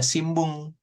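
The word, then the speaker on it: しんぶん: Kemudian nanti ada simbung gitu ya. Ini harusnya sih sin n gitu ya. Hiragana n di sininya. Tapi cara bacanya, melafalkannya itu m, simbung seperti itu ya.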